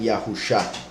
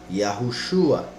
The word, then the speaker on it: Yahushua: Shin y la Ain para mostrarnos que la pronunciación es Shua y no Shah, como algunas personas pronuncian Yahusha, lo cual, si no tuviésemos ese ejemplo, algunos podrían argumentar.